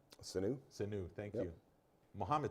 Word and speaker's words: Sanu: Patriots got stronger man who how do you pronounce his name sinew sinew thank you Mohamed Sanu yep Mohamed Sanu he gets traded from the